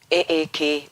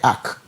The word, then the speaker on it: AAK: No, you bota a ACK. Into AAK, but you pronounce it a kind of ACK marriage. Okay. ACK no, the ACK of the Noah's ACK.